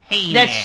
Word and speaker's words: Heyman: the only thing is you pronounce his name wrong you said Paul Heyman it's Paul Heyman true it is Paul